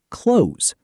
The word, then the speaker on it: clothes: When the th sound comes before the z sound in the plural word clothes, it is easiest to drop the th sound entirely and just pronounce it as close.